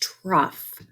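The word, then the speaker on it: trough: a Crest the TRU it's pronounced truff rhymes with Ruff that's the lowest point right where my mouse is the lowest point of a wave so Crest truff the rest position of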